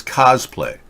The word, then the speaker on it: cosplay: I you stand corrected it's cosplay like costume yeah thank you guest938